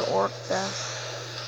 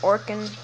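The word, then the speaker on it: Orkan: It's not called Orca. It's supposed to be pronounced Orkin.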